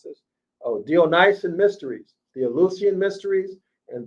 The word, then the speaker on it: Dionysian: So if we have a researcher in the house, they can do some research on the Ellucian and how do you pronounce this? Oh, Dionysian mysteries, the Ellucian mysteries and the Dionysian mysteries.